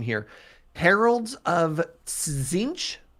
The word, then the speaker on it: Tzeentch: I'm gonna cast, and I would love your help with the pronunciation here. Heralds of Tzeentch. Zinch.